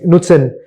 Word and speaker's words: Knutsen: नुत्सन, आई am sure you must have not heard the name, नुत्सन। नो, NUTSEN। के Norwegian company है तो के silent है, KNUTSEN, SEN, नुत्सन।